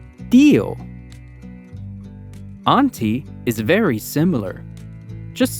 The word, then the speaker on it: tío: When we see a tilde in a word, we know we have to stress that syllable. For example, tío. We stress the syllable T.